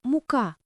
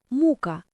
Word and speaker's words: мука: Ще один поширений випадок- мука. Хоча це слово є у словниках, але маркується як розмовне та просторічне. З наголосом на у мука. Воно взагалі означає страждання.